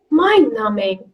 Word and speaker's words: mind-numbing: Long haul flights can be a bit mind-numbing. What is mind-numbing? Extremely boring. Extremely boring. Mhm. Extremely boring. Exactly. Again, it's dull. It's Mm-hmm. mundane. It's monotonous. Again, Mm-hmm. mind-numbing. And B is silent, guys.